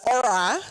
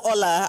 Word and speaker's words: Ola: The second thing is that there's no letter L in Japan. So after 6 months of being referred to as Ora instead of Ola, I kind of gave up anybody pronouncing my name. So for the next 18 months, I was known as Ora, not Ola.